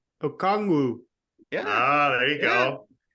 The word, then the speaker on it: Okongwu: Okongwu.